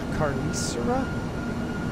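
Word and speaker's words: Carnicería: Carnicera Prime Meat Market. It's in Cypress, Texas. My bad, I was way off. I'm not saying it right. Spell it. C-A-R-N-I-C-R-I-A. Prime. Carnicera Prime.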